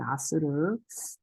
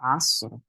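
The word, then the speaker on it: عصر: 이게 아스르. 아인 있고 그다음에 sword. 그래서 아스르. 그래서 sword도 약간 그 굵게 발음해 주셔야 돼요.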